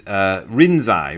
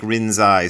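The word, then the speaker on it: 臨済: The easiest one is Rinzai. Rinzai is how he's pronounced.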